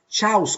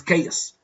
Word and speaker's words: chaos: the simples you see it is not cows or something like that no this is K yeah KS KS and the adjective is chaotic this is chaos it is very important